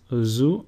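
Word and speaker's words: Ζήτα: Zeta, which is pronounced zoo, and a sample word is zebra, which means zebra.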